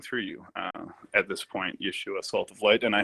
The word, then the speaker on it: Yeshua: Well, Yeshua, of course, is the probably the Aramaic or correct pronunciation of the name Jesus, and is indeed, the